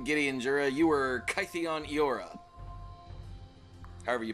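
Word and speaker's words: Kytheon: Gideon Jura you were cyon yora however you pronounce that according to Clues it's kidan cuz it's kid Gideon a 13 10-year-old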